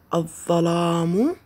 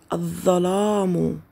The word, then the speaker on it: الظلام: أحسنتم، إنها لام شمسية، تكتب ولا تلفظ. لاحظوا الكلمات مرة أخرى، الظرف لم نلفظ اللام، الظلام لم نلفظ اللام، الظبي لم نلفظ اللام.